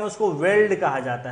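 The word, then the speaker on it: veldt: हाँ, वेल्ड का spelling VELD ही होता है ज़्यादातर, यहाँ टी भी जोड़ दिया है, बिल्कुल शुद्ध दिया है। वैसे VELD खाली आपको लिख देता है, हाँ, टी साइलेंट हो जाता है। हाँ तो लिखा जाएगा ना, बोलना में साइलेंट है।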